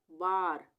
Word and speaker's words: bar: किसी शब्द में या किसी वर्ड में ए के बाद यदि आर हो, ए के बाद यदि आर हो, तब आ का उच्चारण होगा, यानी कि वहां